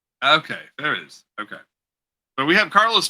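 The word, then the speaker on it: Farias: last name oh my last name is uh FAS okay farious okay so we have Carlos FIS of wicked comics on the program welcome we're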